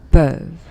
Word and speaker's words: peuvent: le dernier, il, elle, peuvent. peuvent. And again, you don't pronounce ENT when it's a verb. Okay? Just pronounce the last consonant, which is V. Okay, so peuvent.